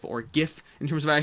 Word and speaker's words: GIF: you can see over here a great little Jif or gif in terms of a I saw cute Kong from below it's pronounced jiff but typing it out whatever the double airport